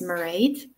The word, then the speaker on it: Mairead: My name is Mairead, it rhymes with parade, and I am based in the west of Ireland.